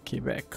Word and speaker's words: Quebec: Yep, that's it, Quebec.